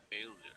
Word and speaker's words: failure: Uh, Failure. First syllable.